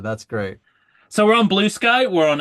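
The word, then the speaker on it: Bluesky: We have Heather Heather Patterson, yes, has has criticized our our pronunciation of blue of blue sky as blue ski to which I responded and I hope she she appreciated this reference.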